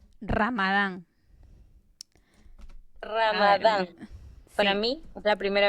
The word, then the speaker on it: Ramadán: una festividad, este, déjenme buscarles brevemente, ¿cómo se pronuncia Ramadán? Ramadán.